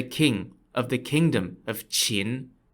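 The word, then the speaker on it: Qin: to assassinate the king of the kingdom of chin spelled q-i-n uh yeah long story short failed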